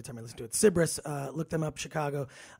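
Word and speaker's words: Cybris: like you're dancing but look up everything cbris it's spelled Sy y b r i s cbris they're band you're going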